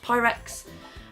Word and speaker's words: Pyrex: I think it's pronounced Pyrex.